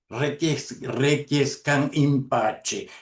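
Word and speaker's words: requiescant in pace: Entonces acá, fíjense, requiescan, requiescan impache. Esa es la pronunción italiana o eclesiástica.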